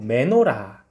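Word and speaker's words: מנורה: 수 있는 촛대 입니다 히브리어 발음으로 맨 오라 라고 하는데요 그래서 등잔 때 말고 매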